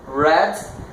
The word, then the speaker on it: read: Do, did, read, read. A escrita é a mesma, mas a pronúncia é diferente, né? Read e read, igual a cor.